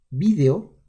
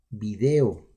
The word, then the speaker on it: video: La palabra video procede del inglés y se ha adaptado al español con 2 acentuaciones, ambas válidas. La forma esdrújula, video, conserva la acentuación etimológica y es utilizada esencialmente en España. En América, en cambio, se usa mayoritariamente la forma grave o llana, video.